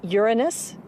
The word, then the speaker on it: Uranus: pronounced the planets name Uranus which is very likely closer to the original pronunciation of the name of the God after Lumina was named